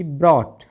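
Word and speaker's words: brought: दे रखा हो तो GH पूरी तरह से साइलेंट होता है। BOUGST बॉट, CAUGST कॉट, BROUGST ब्रॉट, FOUGST फॉट, फॉट माने लड़ाई लड़ना।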